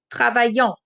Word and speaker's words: travaillons: Nous travaillons. So the only silent letter here is the S. The ON letter combination makes the on sound.